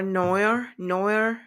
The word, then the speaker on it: noir: You mean for noir?